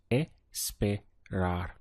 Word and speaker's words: esperar: So here we have 3 syllables, esperar. The tricky thing is that you have to remember to keep the full verb and only stress the endings that you will add on to it.